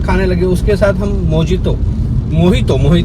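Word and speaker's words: mojito: उसके साथ हम मोहितो एक्चुअली उसको मोजितो नहीं बोलते, मैंने कल उसका प्रोनाउंसिएशन चेक किया था, मोहितो भी हमने मंगाया।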